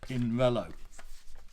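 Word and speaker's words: Pinarello: as you know because that central a in an italian word is not pronounced it's pinello now this is uh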